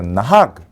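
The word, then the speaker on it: נהג: 그래서 이제 그는 끝에 나오니까 앞에 붙이면 되겠죠. 나학.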